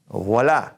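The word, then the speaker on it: voilà: have an O I when we see an O I together in French it's gonna have that oh I sound you ever heard anybody say oval voila there it is there you have it this v/o ila voila same thing anytime oh I we got a watt sound so this is Bow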